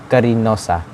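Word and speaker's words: Cariñosa: the philippines and karen kariniosa spanish pronunciation is karinosa meaning the loving of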